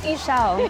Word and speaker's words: Ixchel: Will you say your name for me so I can pronounce it correctly? It's Ixchel. Ixchel.